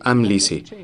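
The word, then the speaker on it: Amlici: Nuestra guía de pronunciación en la parte posterior del texto dice Amlisi. Esa guía cambia con el pasar de los años. De hecho, en la primera guía no era Jared, sino Jaired.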